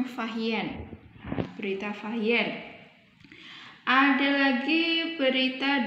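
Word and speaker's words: Fa Hien: Salah satunya ada Berita Fahien, tulisannya Fasien, membacanya Fahien.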